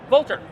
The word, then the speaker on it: Vultr: I'm like Vultr like the bird and they're stunned.